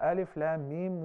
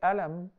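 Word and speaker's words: الم: concerning those letters, because we pronounce them as letters, not as words. Yeah. Sah? Yeah. We don't say Alam.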